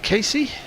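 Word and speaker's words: Keacy: and his first name is pronounced Casey. Casey, as in Casey Jones.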